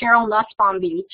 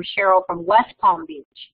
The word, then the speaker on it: Sheryl Nussbaum-Beach: me, my name is Sheryl Nussbaum-Beach, and often when I say my name, especially in online environments or on the phone, people will often think that I say I'm Sheryl from West Palm Beach.